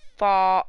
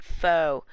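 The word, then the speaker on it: phở: Did you actually know that P-H-O is pronounced fall and not foe?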